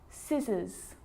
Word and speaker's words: scissors: a few problems because it's often silent after the letter S like in these very common examples they're quite tricky muscle muscle scissors fascinate seen scenario muscle